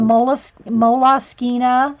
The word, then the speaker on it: Moleskine: So I looked it up on the Moleskine site, and they went out and they did a thing, and it technically, I guess, it's supposed to be pronounced Moleskine.